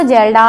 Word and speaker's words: Kjeldahl: जलडा विधि।